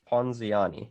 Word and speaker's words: Ponziani: yeah to get educated so this is the ponzianzi how do i pronounce this ponziani yeah yeah i know it's like something for